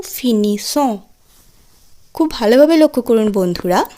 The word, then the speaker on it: finissent: ইল এল ফিনিস, ইল এল ফিনিস অর্থাৎ এই ক্ষেত্রে আমরা দেখছি অহ এন তে থাকছে কিন্তু তার আগে ই এস থাকছে এবং উচ্চারণ দাঁড়াচ্ছে ইল এল ফিনিস, ইল এল প্লুহিয়ালের ক্ষেত্রে ইল এল ফিনিস।